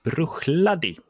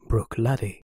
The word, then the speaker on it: Bruichladdich: börjar med det härliga Jag tror att det är så att man även uttalar slutet så att det är Brad Vi är hemskt ledsna att bryta programmet för ett klargörande här säger David fel rätt uttal är Brook lad Okej Det är en